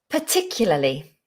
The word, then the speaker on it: particularly: another word particularly particularly five syllables big word particularly particularly per not par party particularly but no i think it's going to always be a schwa particularly particularly go with a schwa particularly particularly lovely get